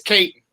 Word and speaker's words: Katon: So I understand As long as they try to say my name, it's cool, but it's Katon.